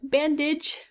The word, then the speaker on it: bandage: The last category has AGE, and it makes an IJ sound, like bandage, right?